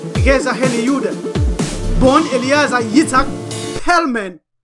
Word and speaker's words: Eliezer: Modern Hebrew was created in Europe by Europeans, especially by Yehuda, Eliezer Ben Yehuda, pronounced eli'ʕezeɾ, Yehuda.